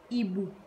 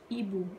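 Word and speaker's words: hibou: We don't pronounce H, we will pronounce like this word is ibu. Don't pronounce H, ibu, which means owl.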